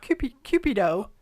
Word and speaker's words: Cupido: In Latin, Cupido, which rhymes with stupido.